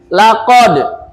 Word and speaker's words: laqad: Di sini ada bacaan laqad. Bacaan apa nih? Dal matinya sukun nih. Laqad. Bacaan apa ini? Nah, qalqalah ya. Qalqalah itu bacanya bagaimana? Memantul. Jadi huruf yang harokat sukunnya tuh yang matinya itu dipantulkan.